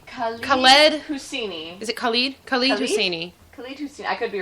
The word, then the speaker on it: Khaled Hosseini: Khalid Hosseini. Khalid Hosseini. I could be wrong. Khaled Hosseini. I always said Khaled. Anyways, white pronunciation.